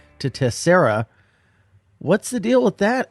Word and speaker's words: Tessera: after it real quick it's tessera tessera although i mean if that's like actually how you pronounce it or not honestly i don't really know but we're gonna go with tessera and we've kind of decided we're sticking to it love it but yeah